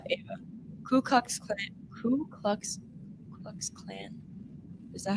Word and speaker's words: Ku Klux Klan: Ku Klux Klan. Is that how you pronounce it?